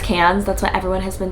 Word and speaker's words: Cairns: we're going to Cairns I believe it's pronounced cans that's what everyone has been telling me it's spelled cards but I think it's pronounced cans um not the one